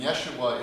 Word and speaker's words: Yeshua: And Yeshua is how they would have pronounced Jesus 2,000 years ago.